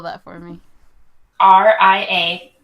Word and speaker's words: Ria: R-I-A. Like Rio, like the one I just gave you, but with an A.